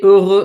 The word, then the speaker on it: heureux: If people have any questions, please say heureux again so that you know I'm saying it right.